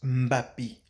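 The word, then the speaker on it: Mbappé: s'écrit mb a2p eux à l'oral on le prononce mappy mais certaines personnes certains occidentalisé et occidentaux plutôt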